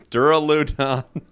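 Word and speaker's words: Duraludon: uh the pokemon here i was about to say the name wrong dura ludon that is the most real authentic hysterical laugh of my entire life ugh dura done got it and you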